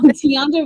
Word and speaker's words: Tianda: Oh, Tianda rhymes with Delonda.